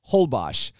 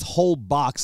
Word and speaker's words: Holbox: and everyone kept referencing a place called Isla holbash now the first time I looked it up it's actually spelled h-o-l-b-o-x which is whole box is what I thought but it's uh it's